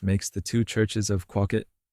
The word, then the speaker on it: Quawket: Pursley of Quawket, commonly pronounced Quawket, looked out of his